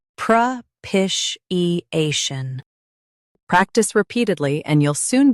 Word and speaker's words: propitiation: Stress pish and keep A clear. Pish. I. Shun. Propitiation.